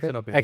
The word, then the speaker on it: Exnopay: You have the same with Exnopay, Yes. right? Do I pronounce it Yes, Exnopay? Exnopay, yes. Exnopay. Because there are more people